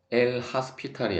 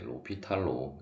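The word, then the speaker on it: L'Hôpital: 한 거라고 보시면 되겠고, 또한 뭐 엘 하스피탈이 아니라 로피탈로 읽는다라는 것을 유의를 하시면 되겠습니다.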